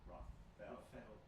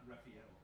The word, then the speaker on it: Raffetto: Raffetto. Raffetto. Huh? Raffetto. not Raffaello. Raffetto. Raffetto. Raffetto. With a T. With a T, okay.